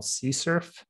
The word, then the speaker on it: CSRF: So that is related to a feature of modern web frameworks called CSERF, It's spelled CSRF.